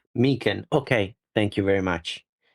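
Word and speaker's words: Meechan: Dank's last name is pronounced as Meekin. Meekin.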